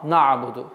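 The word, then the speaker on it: نعبد: выдает твердое произношение нуна, на'буду, потому что легче. Но нужно стараться, чтобы так произнести звук нун мягче. На'буду. Вот это усиление на гортанный звук является ошибкой. Нужно мягко, плавно произнести айн.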